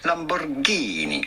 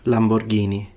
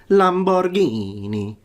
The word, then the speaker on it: Lamborghini: It would be Lamborghini. You do want to insist on the Ghini part. Lamborghini. Not Lamborghini.